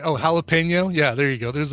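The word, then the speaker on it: jalapeño: Oh, jalapeno. Yeah, there you go. There's an even better example. That N with a little tilde is pronounced nya.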